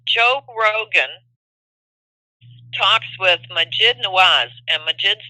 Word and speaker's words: Nawaz: Rogan talks with Majid Nawaz, and Majid's name is spelled M as in mother, Aajid, and his last name is Nawaz, Nawaz. That's Nancy Albert Walter Albert whatever zebra, Nawaz.